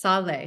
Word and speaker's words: Saleh: It is pronounced sal. So that's think about it as s a w l a y and fromly spelled.